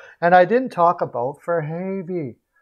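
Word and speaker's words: Fehérváry: i didn't talk about for havey for havey oh my gosh or for her is that is that how you say it the hair very fair very fair very that's it heard it last night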